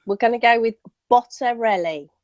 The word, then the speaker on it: Bottarelli: Yeah, it's kind of like if you sing it a little bit, it helps. Like Bottarelli.